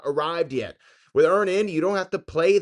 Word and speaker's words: Earnin: That's Earnin spelled like earning money without the G.